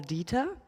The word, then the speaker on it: Dieter: So once more, you work with Paul Dieter. I hope I pronounced that right. It sounds so German. Dieter, oh yeah.